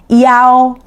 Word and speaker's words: iao: The wider we open the mouth, more stress we put compared to the other. So, iao iao So, in this case, e and o are transitional.